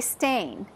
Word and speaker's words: stain: Do you say it Stain or Stein? And I remember her saying, well, you say Stain.